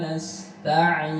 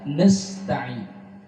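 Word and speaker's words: نستعين: Iyyaka na'budu wa iyyaka nasta'in. Iyyaka na'budu wa iyyaka nasta'in. Nasta'in, hati-hati. Ini sering dibaca nasta'in, berjumpa dengan huruf si sukun. Nasta'in. Ini harus jelas dibaca na.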